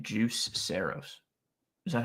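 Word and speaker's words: Juuse: That's another crazy name, Juice Saros. Is that how you pronounce that? Yeah, he's Finnish. That's Yusei Saros.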